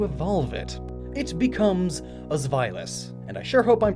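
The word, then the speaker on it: Zweilous: to be huge but trust me i looked it up found like 40 different ways to pronounce it and that one makes the most sense xvilas it's german so upon evolving into xvilas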